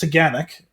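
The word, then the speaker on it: Taughannock: familiar um it's pronounced teganic it doesn't necessarily 100 phonetically look like that it's a 400 foot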